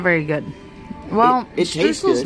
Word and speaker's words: Streusel: Which I'm mispronouncing that. Streusel. Streusel. Streusel. Not S-H at the end.